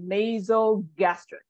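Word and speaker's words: nasogastric: nice natural drastic yep so I want you to pronounce the o just like a regular O So nasal gastric laser nasty perfect all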